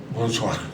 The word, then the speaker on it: bonsoir: ¿Cómo se dice? Buenas tardes. Bonsoir. Bonsoir. Bonsoir, en francés, aclaremos.